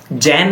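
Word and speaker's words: Zen: जैन नहीं है।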